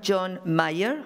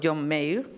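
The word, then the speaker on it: John Mair: llama y que reconocerán John Mayer o John Mayer como se quiera pronunciar se pronuncia de las dos maneras representante de la escuela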